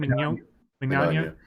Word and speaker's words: Mignogna: Mignogna.